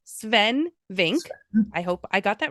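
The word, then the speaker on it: Swen Vincke: It's spelled Sven, but it's pronounced Sven Vink.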